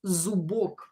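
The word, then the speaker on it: зубок: You can hear that B here is pronounced as B. It is in a strong position here. Zubok. You don't hear P anymore.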